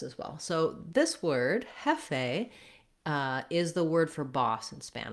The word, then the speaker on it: jefe: When you're saying it in Spanish, jefe, you want to make sure that you don't have a diphthong there if you're trying to get the correct Spanish pronunciation.